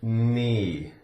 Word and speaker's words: knee: As in the word knee. Knee. The K is silent.